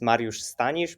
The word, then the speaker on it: Mariusz Stanisz: hi everyone yeah yeah actually my name is Mario Stanish but you PR pronounce it very well so I gave my